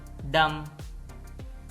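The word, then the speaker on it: dumb: column column सोलम संजीदा डम यह डम है इसमें भी बी साइलेंट है डम गूंगा थम अंगूठा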